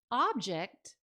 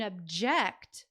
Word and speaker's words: object: When object was a noun, the first syllable was stressed. When object was used as a verb, the second syllable was the stress syllable.